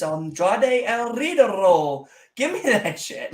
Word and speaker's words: Andrade el Idolo: Bullet Club winning And on TV, you know, you got to roll your R's. It's Andrade el Idolo.